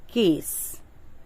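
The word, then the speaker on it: case: हैं वर्ड जो मैंने लिया है वो है केस और थोड़ा सा डिफरेंट इसका प्रोनंसिएशन हम कैश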